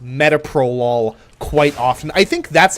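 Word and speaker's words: metoprolol: There's a medication called mytopralol. That's how it's pronounced.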